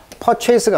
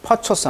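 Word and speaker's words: purchase: 여기 조심할 점은 이제 체이스 하면 추적하는 사람, 추적자란 뜻이 되겠고, 여기다가 이제 PR이 붙으면 이건 발음 조심하셔야 되겠죠. 퍼체이스가 아니고 여기 어가 되겠죠. 강세가 이름절이 되니까. 그래서 퍼처스 하면 이제 구매란 뜻이죠.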